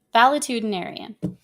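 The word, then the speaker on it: valetudinarian: See how close I was? I said it correctly. Valitudinarian.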